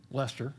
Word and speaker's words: Leicester: fond of um Dudley Leicester, as he sometimes called Yes, that is the way you pronounce that. L E I C E S T E R, it's how we get things like Worcestershire.